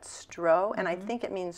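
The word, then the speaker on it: strå: stro St R A with a little circle over it I think you pronounce that stro and I think it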